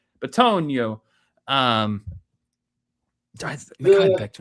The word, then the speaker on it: Bitonio: Um Mekhi Becton, Jonah Williams, and Joel uh Bit- I can't pronounce his last name. He's a big mother trucker. Yeah, Bitonio. There we go. I got a Bitonio.